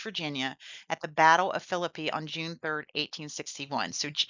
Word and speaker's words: Philippi: I'm I'm mispronouncing it. Philippi Races.